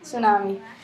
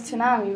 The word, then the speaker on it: tsunami: T tunami I mean tsunami I always get confused how it's pronounced it says tsunami but it's pronounced tsunami so this has to